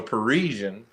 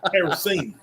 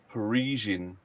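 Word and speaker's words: Parisienne: He was pronouncing the name of the car, which is called a Parisian, syllable for syllable. Paracini. Yeah, Paracini.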